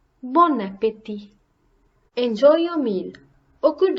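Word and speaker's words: bon appétit: now repeat after me bon voyage bon voyage Bon Appetit Bon Appetit enjoy your meal or killed Abaddon and you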